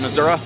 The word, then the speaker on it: Missouri: That is how you say that, right, Missouri? Missouri. Yeah. That's how the Missourians say it.